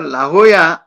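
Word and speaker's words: La Jolla: नावाचं शहर आहे तर लाहोया याचा स्पेलिंग लाजोला असा आहे म्हणजे एल ए जे ओ एल ए पण उच्चार काय आहे ओ या असा उच्चार आहे तसंच इथे जिथे स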